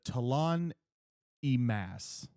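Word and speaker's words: T'lan Imass: There are the Talon Emas is how you say the other.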